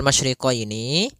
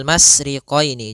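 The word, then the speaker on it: ٱلْمَشْرِقَيْنِ: Pada lafal masyriqaini maka di sini ada huruf syin maka kita harus membacanya dengan adanya sifat tafasyi. Apa itu tafasyi? Tafasiyi adalah salah satu sifat yang terkandung di dalam huruf syin yaitu menyebarnya suara. Sehingga jangan dibaca rabbul masriqoini.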